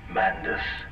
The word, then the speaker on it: Mandus: m the children are kind of sounds like Madness so don't say it right cuz I'm not Madness I'm I'm I'm pretty